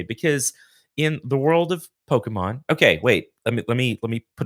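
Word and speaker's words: Pokémon: But I mean, it comes from Japanese, and that is very much how they say it. Most English speakers just say Pokemon.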